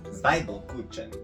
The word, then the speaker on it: Zwiebelkuchen: Pronunciation. Zwiebelkuchen.